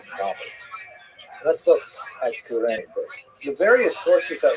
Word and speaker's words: Cyrene: I looked it up and I've heard it pronounced as Cyrene in English. In Greek, it would have been something like Kurene. So I'm probably going to say Kurene, and I'll probably be wrong, but this wouldn't be the first time.